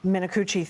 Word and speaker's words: Minicucci: You're going to have to pronounce his last name for me. In an exclusive interview about these delays. Minicucci, thank you.